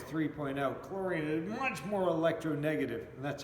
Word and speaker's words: electronegative: Chlorine is much more electronegative, and that's how you say it.